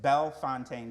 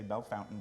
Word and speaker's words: Bellefontaine: I am the event and volunteer coordinator for, catch the pronunciation, Bellefontaine Cemetery. I know everybody likes to say Bellefontaine, but you can check my name tag. There's no U.